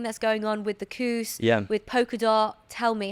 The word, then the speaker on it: Kus: spell that because it it's spelled differently to how it's pronounced right k k s so it's not like C but it's pronouned cous the cous yeah yeah it comes